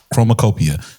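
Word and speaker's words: Chromakopia: Chromacopia.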